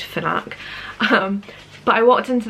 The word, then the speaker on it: Fnac: how the shops pronounced i want to say fnak it's fnac i think it's pronounced fnak um but i walked